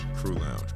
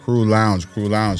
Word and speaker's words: Crew Lounge: Stephon Williams of Cruise Lounge. Is that to pronounce the proper way of the business? Crew Lounge? Crew Lounge, correct. Crew Lounge.